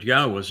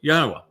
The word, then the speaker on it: Yahweh: Now imagine the single most important discovery that I made along the way is to prove that Yahwa's name YHWH is pronounced Yahwa.